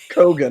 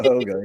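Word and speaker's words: Køge: Koga, not Hoga.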